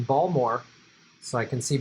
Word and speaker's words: Baltimore: and direct from baltimore i don't pronounce the t i do the correct pronunciation ball more so i can see ball more on the map um